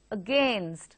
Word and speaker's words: against: How do you pronounce the word A-G-A-I-N-S-T? How do you pronounce that word? Yes, it is against. The sound is very slight at the beginning, and the focus or the emphasis is on gain, so it's against.